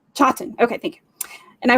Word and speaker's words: Chawton: Chawton. Chawton.